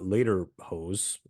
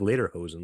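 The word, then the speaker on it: Ledderhose: by Carl Friedrich uh later hose I later HOSA I think I'm pronouncing I think it's like later hosen like the pants like you know when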